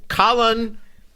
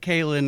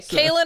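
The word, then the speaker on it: Kahlan: issue ruined paris okay colin kaelin or colin well tj is the authority on the matter so i will default to his pronunciation uh tj what is your preferred pronunciation for our main female lead here i just like kailyn because the other ones sound too close to the male name colin okay kalyn it is kalyn all right we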